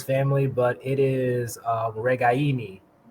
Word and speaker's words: Ragaini: apologize and his family but it is uh regaini it's right on the emphasis on the eye in the in the third syllable so um good goodbye by you to